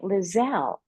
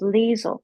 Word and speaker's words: Liezel: the wonderful leisel I was pronouncing it lizelle until you told me it was leel leel leel I